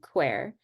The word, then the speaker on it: Qwear: yeah so now I'm going to move to quer so is that that's how that's how you would like me to pronounce it qu yeah okay so what is the mission of quer so qu's mission is to improve quality of